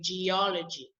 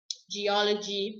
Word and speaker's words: geology: the second syllable and so you stress that o and you say geology geology political you would stress